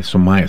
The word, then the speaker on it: Somaya: good she'll be samaya Gallaudet so Maya okay so Maya see if I look at your name I